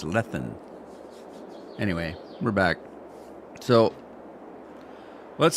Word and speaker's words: Glenleathann: back in h Scotland I can never pronounce it Glenn Glenn letham Glenn letham I want to say letham and it's lethan anyway we're back so